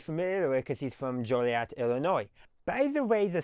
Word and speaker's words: Joliet: So, as you can see on the sign, it's J O L I E T. Now, you may ask why is it pronounced Joliet rather than Jolliat?